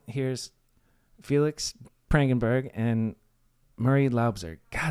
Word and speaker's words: Loubser: I had to ask him before we recorded how to pronounce Loubser because I thought it was Loubser, but Loubser is the proper way.